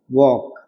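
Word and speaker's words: walk: क्या आ रहा है वॉक हमें एल से मतलब नहीं है अंग्रेजी से हमें हमने क्या बताया अंग्रेजी से हमें कोई मतलब ही नहीं हम प्रोनाउंस क्या करेंगे जब बोलते वॉक वॉक वॉक तो के से पहले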